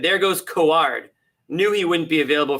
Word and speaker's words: Coward: Tough one, but Kaward, it's pronounced that would make sense. Knew he wouldn't be available for Bobby said there goes Kaward.